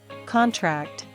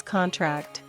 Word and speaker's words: contract: please record this meeting contract noun versus contract verb he signed the contract the metal will contract as it cools permit noun versus